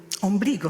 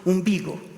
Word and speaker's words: umbigo: Umbrigo se dice umbigo.